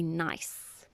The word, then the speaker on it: gneiss: Typically, your granite will metamorphose into a gneiss, but it's spelled with a G.